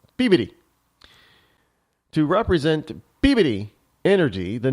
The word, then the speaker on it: Peabody: That's how you pronounce Peabody here in New England. Peabody.